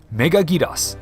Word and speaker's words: Megaguirus: This is one of those names where, regardless of how I pronounce it, someone's going to correct me. Megaguirus. There, no one will dispute the Japanese pronunciation.